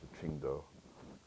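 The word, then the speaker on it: Qingdao: peninsula called um um Singa or the Chinese pronounce Chingo they make that Chinese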